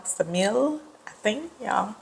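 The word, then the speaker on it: Ksamil: Ted four cities um samil I don't think you pronounced the K it's k s m i l samil I think y'all correct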